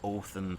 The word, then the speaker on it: Odin: When you say Odin, it's supposed to be Othin.